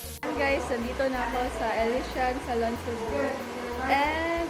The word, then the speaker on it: Elysian: Elysian ba?